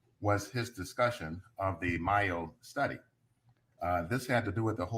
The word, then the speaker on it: Mayo: Because I'm mixing up DeMayo and Yeah, the Mayo study is M-A-Y-O. It's as though it should be pronounced Mayo.